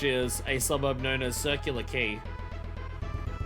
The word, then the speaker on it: Circular Quay: Isn't it Circular Quay?" And they were like, "No, you pronounce that word key."